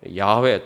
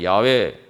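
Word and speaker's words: 야훼: 바로 여호와라는 이름이 줘 원래 발음은 좀 더 에 번역이 여호와로 되어 있습니다만 야외에 또는 야외의 이렇게 에 발음이 됩니다만 그것이 바로 하나님의 이름인데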